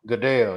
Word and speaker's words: Goodell: Goodell. Goodell, yeah.